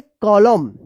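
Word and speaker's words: column: बताइए इसको क्या पढ़ेंगे एम के बाद एन है यानी एन से पहले एम है तो क्या होगा कि यहां पे एन साइलेंट रहेगा। तो क्या पढ़ेंगे? कॉलम।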